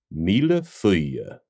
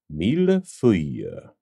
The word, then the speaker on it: Mille Feuilles: It's French, so it's pronounced Mille Feuilles. Mille Feuilles. Mille Feuilles. Mille Feuilles.